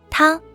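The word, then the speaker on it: 湯: Same goes for this second sing, which features this kanji that is pronounced you in Japanese and 汤 in Mandarin Chinese, but means hot water in both languages.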